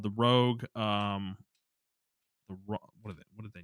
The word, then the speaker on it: ROG: Yeah, I call it Rogue because I think that's what it is, but it's like it's spelled ROG, which is Yeah.